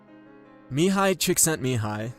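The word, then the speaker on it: Mihaly Csikszentmihalyi: j u n g mihai chick sent me high and that's by the way how you say his name dedicates a big part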